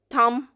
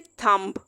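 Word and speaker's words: thumb: थम, हम ये नहीं कह सकते थम्ब। बी नहीं हमने बोलना जब भी बी से पहले एम आ रहा होता है, तो यहाँ पे भी बी साइलेंट हो जाएगा, थम।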